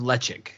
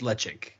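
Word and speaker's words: Ledaig: smoky whiskey guy have you ever heard of lechik spelled lead egg but pronounced lechik it's i believe it's tobermory's side right right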